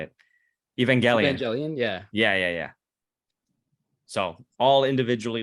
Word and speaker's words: Evangelion: Evangelion, yeah.